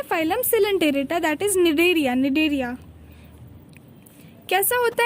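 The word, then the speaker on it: Cnidaria: निडेरिया में भी देखो सी साइलेंट है, तो सी देख के सिनेडेरिया नहीं कर देना।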